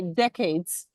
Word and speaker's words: decades: Tanya, let's say decades. Is it 10 years? Decades. The stress is on air.